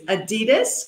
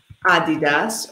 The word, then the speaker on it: Adidas: Our last question of this introduction is Adidas or Nike?